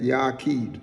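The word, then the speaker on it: yachiyd: w k h e e d so we pronounce it and it's made up of the hebrew word right yakid that's the evil word for the word only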